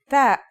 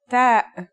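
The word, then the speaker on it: ت: The pronunciation is like the English T, except you should release your breath with a strong burst of air. Try it. Ta.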